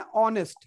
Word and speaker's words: honest: जैसे हम लोग बात करते हैं ऑनेस्ट, तो ऑनेस्ट में हम लोग किसको प्रोनाउंस करते हैं? एच को, एच को प्रोनाउंस नहीं करते हैं, ओ से बोलते हैं, तो उसमें एच साइलेंट होता है.